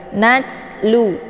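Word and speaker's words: نتلو: jadi tidak begitu jelas natlu jangan dibaca natlu ya tidak boleh dipantulkan jangan sampai keluar bunyi te karena yang yang terbentuk suara di sini adalah desis anginnya bukan pantulan hurufnya ya Jadi dibacanya Nat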